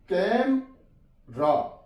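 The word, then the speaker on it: camera: कैम रा, ई silent है, कैम रा, कैमरा। डिफ रेंट, डिफरेंट, तो इसे हमने डिफरेंट नहीं पढ़ना, ये ई साइलेंट है यहां पे, डिफरेंट, डिफरेंट।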